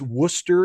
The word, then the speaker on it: Worcester: ever seen uh christiacity can i pronounce worcester and leicester is that right is it leicester worcester and leicester right that's correct lisa garrison did i watch